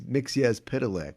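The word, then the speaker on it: Mxyzptlk: Is it Mixias Pitalik? Yeah. We always said Mitzelplick when I was growing up. Piddle? And then I learned it was Mixias Pitalik. But I still hear Mitzel Dick, which sounds a little more fun.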